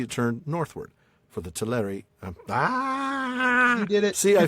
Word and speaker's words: Teleri: I was trying so badly to make that second syllable sound like the A instead of an Right. It's hard. It is hard. For the Teleri in Alqualande had seen